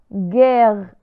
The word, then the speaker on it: guerre: كما تلاحظون la lettre E التي جاءت بين U و R فهي تحولت في نطقها إلى A رغم أن لا توجد une accent فوق la lettre E وذلك لأنها جاءت قبل double consonne de la lettre E. جاءت قبل deux R. guerre.